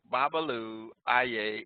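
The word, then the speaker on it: Babalu Aye: learned how to say it look at me babalu ia the city of Hialeah you should see me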